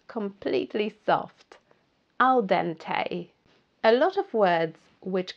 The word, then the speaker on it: al dente: Al dente. A lot of words which come from Italian and French, when they have an E at the end, it's pronounced A in English.